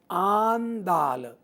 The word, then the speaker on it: Andal: One of the loveliest depictions of Panchajanya has to be that of Andal, pronounced Andal, the 9th century Vaishnava mystic, जिन 9वीं शताब्दी में जो वैष्णव रहस्यवादी संत हुए हैं जिनका नाम आंदाल है।